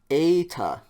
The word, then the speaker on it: eta: e e e epsilon this is now going to be the long e eta okay eta like the